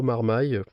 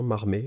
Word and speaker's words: Marmaille: de Yannick, Pio Marmaille, je prononce peut-être pas bien, Marmé, je sais pas comment ça se dit, je suis désolé. Non, c'est Marmaille, je crois. Marmaille. Enfin, je l'ai toujours entendu prononcer Pio Marmaille, donc j'espère que c'est ça.